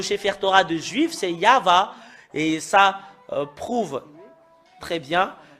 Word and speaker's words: YAHVAH: voyons dans le Sefer Torah des Juifs, c'est Yahva. Et ça prouve très bien que voilà la vérité juste en haut qui confirme ce terme que c'est Yahva qui est le vrai. Yahvé n'est pas dans dans l'alphabet juif ancien.